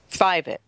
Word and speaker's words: Fievet: I'll introduce in just a minute is fivet I was just corrected on pronouncing her last name it's a toughy